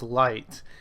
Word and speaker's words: Lite: teehee and I looked it up it's it's pronounced light and I was like I was wondering like